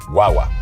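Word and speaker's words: guagua: say it right guwa guaga guaga it's almost like G way but fast it's almost like guwa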